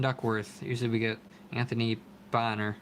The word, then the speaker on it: Bonner: usually we get Anthony Bonner I always wanted to call him Anthony Boehner but nope that's not how you pronounce it Robert Parish all-star card